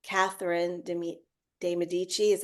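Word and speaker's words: Medici: course there's the stories about C Catherine de deichi is how you say her name and she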